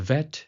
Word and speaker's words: Vet: Now when the dagesh is not present, as this example, it is called a VET, making a dental-labial sound as in /v/, so, in BET, /b/ sound as in 'Basketball' and VET, as in /v/, 'volleyball'.